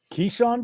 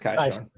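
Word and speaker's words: Kyshawn: Keyshawn George? Or Kaishan? Yeah, it's actually pronounced Kaishan.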